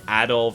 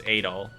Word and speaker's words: Adol: we'll take it it's the same thing with the whole adult versus adol that we were pronouncing that wrong for two games amanda leo is probably